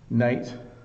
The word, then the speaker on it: knight: Night and night. So again, in this case, the K, the letter K is not pronounced.